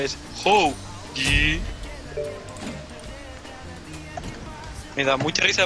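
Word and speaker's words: Hou Yi: No, que así se pronuncia, es Hoji.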